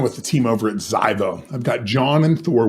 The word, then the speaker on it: Zivoe: I have John and Thor from Ziveo. I just said it wrong, didn't I? Absolutely. We shouldn't have done that. It's Zivoe, and I know it.